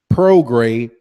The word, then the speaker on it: Prograis: But yeah, Regis Prograis, I got to remember, I keep mispronouncing the last name. Prograis.